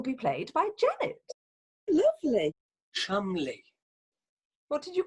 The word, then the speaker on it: Cholmondeley: Chumley. What did you call me? It's pronounced Chumley, not Cholmondeley.